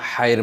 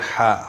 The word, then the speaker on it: ح: প্রথমে আমরা হায়ের মাখরাজ এবং সিফাত সম্পর্কে জানি, এরপরে আমরা উচ্চারণের দিকে যাব। ২ নম্বর মাখরাজ হলকের মধ্যখান হইতে আইন হা দুটি হরফ উচ্চারিত হয়।